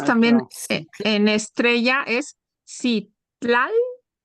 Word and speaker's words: Citlali: Y la estrella es Citlali, Citlali.